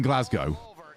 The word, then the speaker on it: Glasgow: few actually good glasg the W does not exist in Glasgow you're not saying in